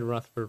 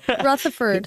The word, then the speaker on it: Rutherford: you didn't say uh you said ruford wrong because it's spelled wrong we're going to give Spencer one there so Rutherford rord Rutherford South Walton at Walton